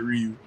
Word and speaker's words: Ryu: say the English subtitle version of it they pronounce it Ryu so I was like all right if you